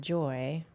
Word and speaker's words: Joi: will tell you that I named it Joy it's spelled Joi but I named it